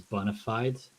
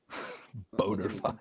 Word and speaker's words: bona fide: So that's Latin, and then people spell it Bonified, like it's an English verb. Boner. Boner fide. Bona fide.